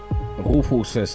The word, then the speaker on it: Rufus: I melt it down if you think I really pronounce rufus's name strangely Rufus is the actual German pronunciation and this is a German game after all H this thing is